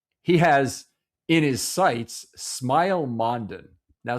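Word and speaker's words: Smael: Now, Smile Mondon was a linebacker that you you'll remember his name from the draft a couple years because it looks kind of like SM, but it's pronounced Smile and he was on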